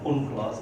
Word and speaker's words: UNCLOS: I pronounce it as UNCLOS because my professor did it.